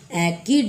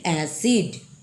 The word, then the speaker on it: acid: एसिड, क्योंकि यहाँ सी के बाद, सी लेटर के बाद आई आया है, इसलिए ये एकिड नहीं होगा बल्कि एसिड।